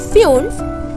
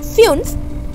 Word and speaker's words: fünf: 5 is called fünf with umlaut. So you have to just mold U a little bit, fünf.